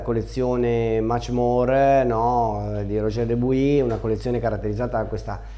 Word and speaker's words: Dubuis: Della collezione Matchmore di Roger Dubuis, l'ho pronunciato bene oggi, eh? Dubuis, no, perché leggendolo così io mi veniva a dire Dubois, no? Chissà perché, invece Dubuis, perché qualcuno di voi che conosce il francese mi ha corretto.